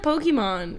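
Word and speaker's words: Pokémon: Just well, even the word Pokemon, we say Pokemon. Oh yeah, I think that's actually correct. That's like closer to like Japanese. Pokemon. Yeah, I think it's actually Pokemon, but not.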